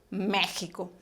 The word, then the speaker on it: México: si fuera una jota se escribe con x pero se pronuncia siempre méjico y de la misma